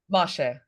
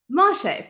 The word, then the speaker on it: Moshe: Moshe, how do you pronounce that, Elinor? Moshe. Moshe, perfect. I'm glad you corrected me on camera, so now everyone knows how to say it well.